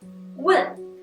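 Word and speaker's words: 问: Например, «вэн» – это спрашивать, «вэн» – целовать, «чу-ти» – это тема, а «чу-ти» – уже свиные ножки.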